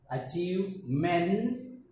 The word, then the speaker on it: achievement: A, chi, w, okay, e at the end, sometimes it produces no sound, is silent. Achievement, sir, achievements, whatever you achieve in your life, okay, so that is called achievements.